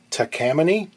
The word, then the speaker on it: Takamine: pronunciation floodgates shall we i've heard them called tacomines takamines in one case it was takamine in japanese i believe it's probably closest to takamine but whatever it is